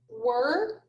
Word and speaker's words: were: part of the word you would probably expect it to be pronounced but it's pronounced er so when you read the word were you have to remember to pronounce the letters e-r-e as er but when you write